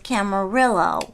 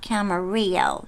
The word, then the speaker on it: Camarillo: my tony randall said it's actually portuguese settlement or something and the way you pronounce it is camarillo not camarillo that would be spanish so that's like portuguese way of saying that i guess so